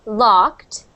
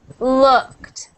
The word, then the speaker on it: looked: said l or LED so we want to make sure that you're saying looked looked looked not L but uh try saying this uh uh uh uh not o but uh looked looked looked looked good